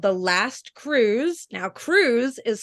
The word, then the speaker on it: Cruz: yes I wrote a book called The Last Cruise now Cruz is spelled with a z it is Spanish for